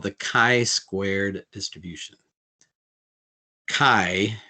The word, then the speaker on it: chi: Chi, it rhymes with sky.